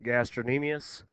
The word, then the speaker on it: gastrocnemius: It looks like gastrocnemius, but it's actually pronounced gastrocnemius.